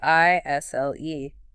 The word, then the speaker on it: aisle: It's spelled A I S L E. But that S, totally silent.